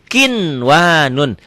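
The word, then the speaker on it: قِنْوَانٌ: Tetapi karena bertemunya satu kalimat, satu gabungan, tidak dibaca idgham, tapi harus dibaca jelas, dibaca idhar.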